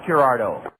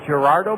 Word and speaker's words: Girardeau: Dugout a lot of folks would have trouble with Clark's last name but fortunately growing up in Southwestern Illinois there is a beautiful city in the Southeastern part of Missouri called Cape Girardeau and it's spelled the same way as Gerardo's last name g-i-r-e check that e-i-r a r d e a u Cape Girardeau Missouri Southeastern Missouri state is